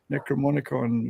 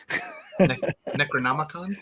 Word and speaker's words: Necronomicon: be reaching through our Necromonicon, or I always pronounce that wrong. Necronomicon? Necromonicon.